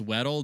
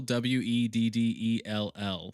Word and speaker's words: Weddell: It's Weddell, Weddell.